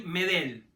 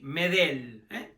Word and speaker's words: Medel: que precisar su apellido nada de Gary medel no no lleva acento en la primera e sino Gary medel sin tilde así hay que pronunciarlo Bueno finalmente llegó Después